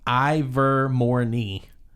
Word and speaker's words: Hermione: okay I didn't know that okay no it's pronounced I've war I'd like Hermione basically Ivor Morni Ivor Morni so I remember Ivor more nice